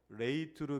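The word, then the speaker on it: λειτουργέω: 레이트르게오. 레이게오. 발음이 조금 어렵죠?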